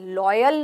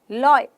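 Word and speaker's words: loyal: इ very लॉयल person लोयल नहीं है लॉयल रायल ठीक है बॉय एंजॉय ऐसे बोलते हैं इसको तो क्लियर हो गया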